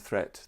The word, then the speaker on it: threat: Watch out for meat and great and threat, they rhyme with sweet and straight and debt.